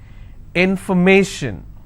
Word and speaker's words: information: will stress on stay if i have more number of syllables information first i will break it in for may shin so where do i stress i will stress on may information if i have the